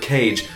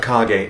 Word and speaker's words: Kage: used to call this game The Legend of Kage but as I got older I learned that it's correctly pronounced The Legend of cog eight as the Japanese name is kaki no densetsu